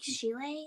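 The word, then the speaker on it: Schiele: I think Chile is how you say it.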